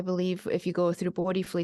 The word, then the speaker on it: Bodhifully: So the website is, and I have to make sure I say it correctly, Bodifully. No, I didn't get it right. No, you got it right. Okay, Bodifully.